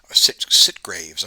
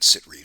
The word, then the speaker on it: Sitgreaves: And if I pronounce that wrong, Sitgraves. I'm sorry, not Sitgreaves. Sitgraves National Forest in Arizona.